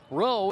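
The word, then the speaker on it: Rheault: Rowe is one of the last names on this team that you might hear and say, well, that's an easy one. It's spelled R-H-E-A-U-L-T. French, I believe.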